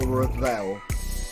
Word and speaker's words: Revel: It's, I don't know if it's pronounced reveal or revel. It's R-E-V-E-L. Revel.